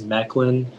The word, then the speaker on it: Mechlin: all the information yeah uh so the only pronunciation is meklin it's a noun and it comes from a